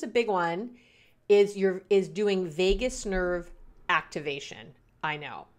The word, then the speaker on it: vagus: Is doing vagus nerve activation. I know. Vagus is V-A-G-U-S, not like Las Vegas, okay?